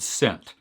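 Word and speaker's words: scent: letter in the word sent i love this question i really actually think the silent letter is the e because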